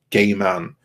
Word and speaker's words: Gaiman: the neil gaiman series i do believe it's pronounced gay man although i've always tried